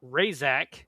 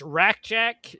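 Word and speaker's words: Rasczak: The guy who plays Lieutenant Razak is how they pronounce it. It's Rakjak in the movie, Razak in the show, who's the lieutenant of the Roughnecks.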